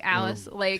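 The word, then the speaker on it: Alais: Which is not, it's spelled differently. Like, it is. But it's Alice. It looks like Elise or something like it's A-L. There's Well, she's S's. French. Yeah. There's S's instead of C.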